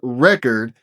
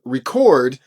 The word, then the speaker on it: record: would be pronounced as record, as in the type of things that we used to use to listen to music on. Here, the stress is on the first syllable.